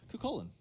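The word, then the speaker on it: Cú Chulainn: makes me sweat because I know I never pronounced the name correctly. Cucullin. Yeah, so nailed it. Cucullin.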